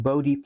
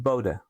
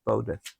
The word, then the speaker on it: Bode: E in English, but in Dutch is B O D A and it is pronounced Bodha.